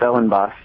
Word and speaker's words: Ellenbaas: So, with with all no further ado, uh welcome Ellen Boss to the show. Am I pronouncing your your last name correctly? Yeah, that's right. It's Ellen Boss.